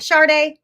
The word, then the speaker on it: Sharde: we have here miss sharday am i pronouncing your name right charde yes that's my name how are you on